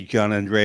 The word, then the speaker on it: Gianandrea: we did was we had the audience correctly pronounce his name because now we all can say John Andrea and NOA without a problem but you remember